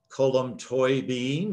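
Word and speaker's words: Colm Tóibín: to me it's written by a gentleman named colon toy bean column toy bean is one of gosh very popular authors for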